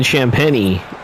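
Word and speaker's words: Champagnie: That is Kaishan George, and it's Justin Champagny, the pronunciation.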